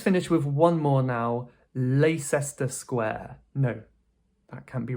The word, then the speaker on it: Leicester: So remember the rule when we have 'cester', what do we tend to do with 'cester'? We remove that middle syllable. So this is simply pronounced Leicester Square.